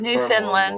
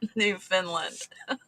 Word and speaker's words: Newfoundland: There's Newfoundland. one. Sorry, I knew. As soon as I said it out loud, I knew I said it wrong. Newfoundland.